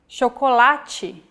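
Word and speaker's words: chocolate: or like this sintu when paired with age forming the Digraph CH we have the sound shokolachi so as you can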